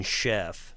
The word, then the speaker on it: Scheff: as a chef but it's spelled anyway you know Chef the way he spells it s c h e FF yeah uh well I